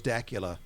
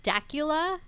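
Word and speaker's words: Dacula: town it is today i always thought it was dakula so you know what do i know people still call it either way so i'm in dakula at pyra digum come on by well some of the locals i say it's dakula yeah so you hear it all different ways you really do and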